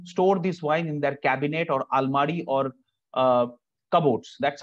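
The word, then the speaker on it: Kabinett: The first one is a cabinet, not cabinet, it's cabinet. So cabinet is when the wine grows in the French vineyard. The people over there used to store this wine in their cabinet or almari or cupboards.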